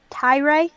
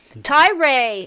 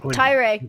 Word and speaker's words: Tyrae: you so much for can you pronounce your name for me um tyrae tyray oh that's exactly beautiful three times tyree come on to my channel that's beautiful i'm not saying it right all the mods are